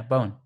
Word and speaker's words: Bohan: Just, all right, it's probably Bowen. The Yeah. H is silent and the A is pronounced like a U. Okay, yeah, Bowen.